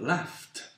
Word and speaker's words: laughed: Dans le cas des sons qui finissent en F, par exemple, comme dans le cas du verbe laugh, ben on va dire laughed.